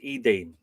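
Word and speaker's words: Eithne: They had one daughter that was called by the same name as her mother, Ethane. Apparently this in middle Irish this name would be pronounced Eden.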